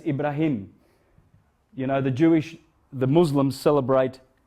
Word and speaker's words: Ibrahim: Heart, yes, but how do you say Abraham? Any Arabic speaking? Ibrahim. Yeah. That's Ibrahim.